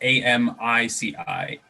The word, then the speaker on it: Amici's: do you spell that is it like lychee but michi uh no no it's a-m-i-c-i-s amici's oh that makes more